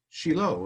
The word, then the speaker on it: Shiloh: In Hebrew, it'd be pronounced Shiloh as opposed to Shiloh.